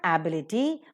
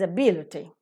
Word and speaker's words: ability: Bursar so ability ability it's not ability it is ability that's right similarly is